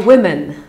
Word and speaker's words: women: Things invented by women. Ok, czyli po pierwsze, zwróćmy uwagę na słowo woman. Woman. Jedna kobieta to jest woman. Dwie kobiety to są women. pisane trochę inaczej i wymawiane trochę inaczej. Women. Things invented by women.